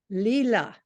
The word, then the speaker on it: Lila: piece of non-fiction called I'm going to pronounce it right Lila although it is spelled l-i-l-a and she contributed that